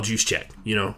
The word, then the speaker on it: Juszczyk: deadliest weapons in all of the NFL, Kyle Juszczyk. Kyle Juszczyk, but Juszczyk on Instagram. He literally is his name is spelled the phonetic way you're supposed to say his name, Juszczyk.